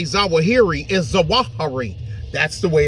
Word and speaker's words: Zawahiri: the way all of that's the way all the Iraqis and the Kurds pronounced it so I say it the way they say it I'm an Al zahari not zahiri they would know better